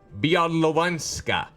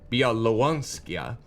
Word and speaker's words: Białowieża: Białowieża.